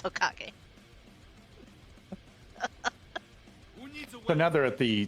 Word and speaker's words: Hokage: It's Hokage.